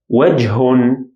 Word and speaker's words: وجه: Here again we pronounce it as H sound or ه sound. وجه.